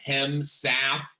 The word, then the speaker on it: Hemsath: name is is owen hem south and i'm extremely proud of that name so it's hemsaf uh and it's pronounced exactly the way that it's spelled but you know it's